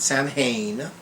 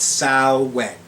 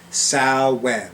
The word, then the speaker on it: Samhain: pronunciation is salad not samhain not anything else but sal wen think of it this way female pig when as opposed to what where who or why sal when actually i need to